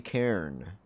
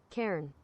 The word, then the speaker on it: cairn: on Google right now how do you pronounce this what is a cairn uh pronunciation sorry but I'm like turned Karen Cairn oh it's correct I thought I was butchering it for a second there he